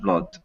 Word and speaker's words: blood: have lost too much blood. Good. And very good pronunciation of the word blood, right? These double O words can be difficult, right? Because if we think about food versus blood.